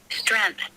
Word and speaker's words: strength: trained strength oh no they don't have any g strength yeah here now i'll i'll just play it to you how it sounds in my dictionary strength strength strength yeah strength strength strength strength yeah so there's no g in it okay learn something today